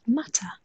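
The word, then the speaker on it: मटर: The Hindi word for peas is matar, pronounced mutter, which gives rise to the silly joke, what did the peas say to the other?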